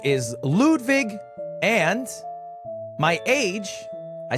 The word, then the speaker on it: Ludwig: My name is Lwig, but it's pronounced Ludvig. Lude Vig.